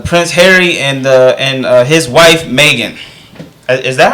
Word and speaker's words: Meghan: Prince and the Prince Harry and his wife Meghan. Is that how you say her name? Yeah, Meghan. Right? Okay. Yeah, Meghan.